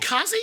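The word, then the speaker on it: Kasi Lemmons: Oh, by the way, is it Kazi? I thought it was Casey Lemons. Weird. I think so. I think he mispronounced it. Oh, okay. He was trying to be cool. It's spelled a little funny, right? Like, yeah, it's not like it's Kasi. Yeah, it's Casey. Yeah.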